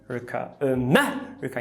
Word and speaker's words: America: E na palavra America não tem o schwa. Por quê? Porque o E está em posição tônica, certo? America. Então esse E não é um schwa, porque está em posição tônica, ele é o epsilon.